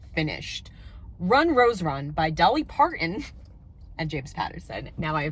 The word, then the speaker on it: Dolly Parton: run Rose run by Dolly Parton and James Patterson now I figured out I don't know why I was having a hard trouble pronouncing her name earlier it's not a hard name Dolly Parton I am giving this